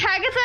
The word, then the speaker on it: Haggatha: I forgot that you named that one Haggatha. It's Haggatha and Agatha. It's like the greatest. I can't remember what I named my NPCs. You were like, "What rhymes with Agatha?"